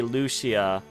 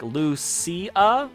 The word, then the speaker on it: Lucia: I think they mainly say Lucia right but I think there are some people that put less of a emphasis on that she part and so it ends up with some people when they say her name it sounds more like Lucia rather than Shia and I think that's